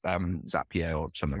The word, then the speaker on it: Zapier: just like it's um zapier or something like that it's called zappier actually because it rhymes with happier I was tall yeah